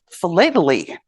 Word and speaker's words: philately: If you live on the other side of the pond, it's pronounced philately. To help me remember how it's pronounced, postage is flat. So philately it is.